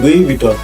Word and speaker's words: Louis Vuitton: ভাই, এটা কিন্তু লুই ভিটন, লুইস ভিটনও না, লুইস বাটনও না, লুইস ভূষণও না। রিমেম্বার, এটা হচ্ছে লুই ভিটন।